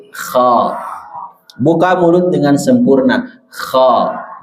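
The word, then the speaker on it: خَ: Pengucapan yang benar bukan kho, tetapi kha.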